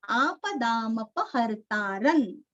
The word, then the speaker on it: आपदामपहर्तारं: आपदामपहर्तारन, यहाँ पे प भी पूरा पढ़ना है।